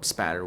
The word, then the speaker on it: spatter: But yeah, like I was saying, just for reference, the right way to say blood spatter is, well, spatter without the L.